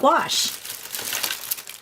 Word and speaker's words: gouache: already have on hand I use something called wash and this is what it is second wash okay that's how you pronounce it they're so cohosh is just like